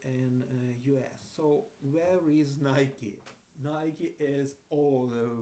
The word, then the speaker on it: Nike: You know, it is the company producing sports equipment, and we used to pronouncing this word as Nike in our country. However, Americans they are pronouncing this word as Nike, and this is the correct pronunciation because, you